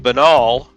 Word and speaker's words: banal: With banal, the long-standing British way was to say it like banal, but saying it the French way is now back in vogue, even over there.